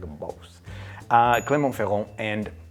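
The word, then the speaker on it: Clermont-Ferrand: are spending 3 days in an area called clemont feron say it like a boss uh clont feron and it's in the middle of France now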